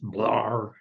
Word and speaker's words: Blair: of newspaper editor Francis Preston Blair the time pronounced blur Sion of a wealthy